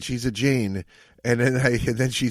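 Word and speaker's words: Jain: Giant Jane. I said giant. It's definitely Jane or I don't know how to pronounce it.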